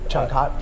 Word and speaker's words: Changkat: So how do you pronounce it? Changkat?